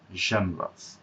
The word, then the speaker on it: genres: ওকে, জনরা যেটা আপনার art, culture, poetry বা লিটারেচার, বা হয়তো আপনি মুভি বলেন, এগুলোর যে প্রকারভেদ সেটাকে আমরা জনরা বলি, এটার উচ্চারণটা জনরাস।